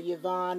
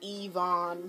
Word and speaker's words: Evon: my my name my name is not yavon it's Evon he was like oh